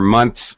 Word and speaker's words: months: here months months again here's another good example where we reduce pron pronunciation of the th actually a native speaker doesn't really say month we don't draw it out and express every sound we shorten it and say months really fast the th sound actually